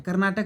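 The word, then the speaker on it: Carnatic: कर्नाटक नहीं है जो आज हम देखते हैं कर्नाटक राज्य नहीं वह यह वाला कर्नाटक है देखो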